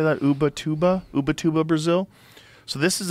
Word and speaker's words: Ubatuba: Ubatuba? Ubatuba, Brazil? So this is a different, it might be a different pronunciation in Portuguese.